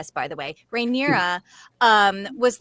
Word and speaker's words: Rhaenyra: set up that Rhaenyra, is that how you pronounce it? Rhaenyra?